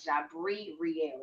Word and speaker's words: Jeabriee Rielle: stuff on it's on jab Real is how you say it so it's j e